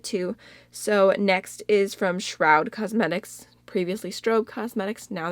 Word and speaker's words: Shroud: loud shroud Shroud okay everyone was telling me in my last video that it rhymes with cloud and crowd shroud shroud that sounds